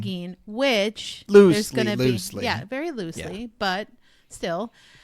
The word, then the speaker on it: Tobe: but it has to be mentioned Really for pronounced Tobe.